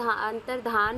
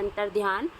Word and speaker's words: अंतर्धान: है तो इसमें अंतर अंतर्धान है वो आपकी सही स्पेलिंग हो जाएगी वैसे हम जनरली अपने वर्ड्स में बोलते हैं अंतर्ध्यान लेकिन अंतर धान इसकी सही स्पेलिंग हो जाएगी अगला प्रश्न है उदित